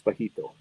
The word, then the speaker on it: Bajito: cartoons and his name's bajito thanks to shorty thanks shorty is it B is that how you spell it what's that ba Q UI o no b a j i j the J sound okay yeah yeah got